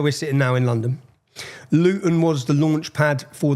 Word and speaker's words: Luton: And to anyone if you don't understand Luton Luton see I pronounce my tea there. We don't pronounce our te's. I've done that for you. How do you say it? Luton bottle water.